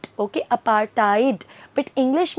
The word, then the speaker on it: apartheid: Basically इसको pronounce करते हैं अपार्टाइड. Okay, अपार्टाइड.